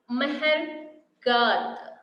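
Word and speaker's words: Mehrgarh: And here, first one, Mehergarh. Meher, you just try to pronounce, children. Meher, M-E-H-R, Meher, Garh, G-A-R-H. Not the t.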